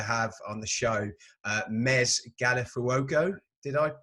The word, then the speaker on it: Mez Gallifuoco: really excited to have on the show uh mez galifuoco did i pronounce that correctly so well that's perfect awesome